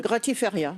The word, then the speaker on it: gratiferia: maison, qui organise des gratiferias. Je Oui. prononce à l'espagnol? Gratiferia. Peut-être que, Voilà. je prononce pas le S.